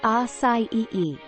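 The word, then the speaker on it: açaí: everyone welcome to creative acai pronounced acai is a small purple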